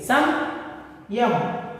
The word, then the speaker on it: संयम: पा वर्ग का पंचम वर्ण मां का आधा उच्चारण करना चाहिए। देखिए संयम, संयम कहकर पढ़ना चाहिए।